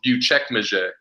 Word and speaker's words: Büyükçekmece: like everyone was so surprised, but it's called Büyükçekmece. They're Wow. C's, there's Yeah. C's and A's. It's crazy. It's like Latin and French, like deriven of the language out here. So like it's crazy. Uchekmache. Yeah, Büyükçekmece.